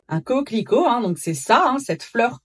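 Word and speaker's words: coquelicot: Coclico. Un coclico. Un coclico. Donc c'est ça cette fleur colorée. J'aime bien la sonorité de ce mot en français. Coco avec le thé muet comme d'habitude.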